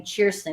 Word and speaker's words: Kirsten: Her name was Kirsten, Kerstin. Okay. But when she was 11, she's like, I want to pronounce my name Cheerson because that's how you say it in Scandinavia.